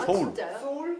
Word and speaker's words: Seoul: 서울. SEOUL 서울. 소울도 아니고. 소울도 아니고 스펠링도 SEOUL이에요. 누가 지원해서 만든 거 아니에요?